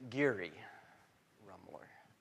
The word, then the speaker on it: Geary Rummler: Geary Rummler.